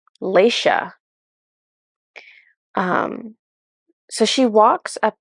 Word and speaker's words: Lexia: she it's funny she the name she picked was l e x i a and so you would think that was Lexia but she was pronouncing it Leisha um so she walks